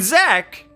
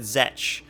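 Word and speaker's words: Zech: If you know the show Ruby, then you may know Aaron Zek. Wait, I think she pronounces it Zetch.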